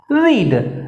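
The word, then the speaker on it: read: Y will Lakshmi, not हो जाएगा, have हो जाएगा, रीड, रीड की third form रेड, रीड spelling वही रहती है, रेड पढ़ा जाता है, हैव रेड।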